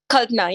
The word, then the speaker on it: Kalpana: Am I pronouncing you right? Kalpana? Kalpana, yes, Kalpana.